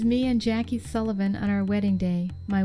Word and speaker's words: Sullivan: Which, by the way, the proper pronunciation of that name is Sullivan, not Sullivan. Sullivan is the anglicized version. So, there you have it, Sullivan.